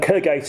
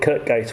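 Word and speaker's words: Kirkgate: Street in Dublin and Kirk out in in Leeds or as southerners call it Kirk case which of course completely mispronounced here and it's what's interesting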